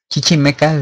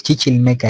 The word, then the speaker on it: Chichimeca: como el Otomí entonces Chichimecas vemos que esa traducción simple y literal se ha denominado como barbarismo otra interpretación que chichil meca es la gente roja pero no se dice chichil meca es Chichimeca chim cuando se reduplicación